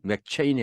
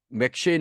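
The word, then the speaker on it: McCheyne: 한국에는 맥체인으로 알려져 있는데 발음은 맥체인이 아니라 맥쉐인입니다.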